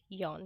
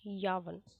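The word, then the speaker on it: yawn: This pronunciation is यॉन, वी कैन not pronounce यावन।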